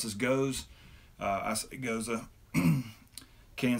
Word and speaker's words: Gose: Mount Pleasant South Carolina's goes up some people pronounce this goes it goes mmm can says sour salty and